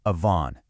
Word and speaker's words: avon: And finally, that deliberate rebellion results in avon, pronounced avon.